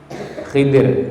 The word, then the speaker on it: Khidir: dimulai dari qala qala yang mengatakan di sini adalah Khidir ya ada yang membacanya Khadir ya di depan kita